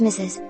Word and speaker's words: Mrs.: When this stage was reached, Mrs., pronounced Mrs., became a distinct word from mistress.